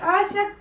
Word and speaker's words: असक्त: त स और तालव श ये दंत स है आपके ये तालव श है और यहां पे आ की मात्रा है यहां पे नहीं है ये असक्त है ये आसक्त है ये दोनों के उच्चारण में थोड़ा सा अंतर है लेकिन अर्थ उसके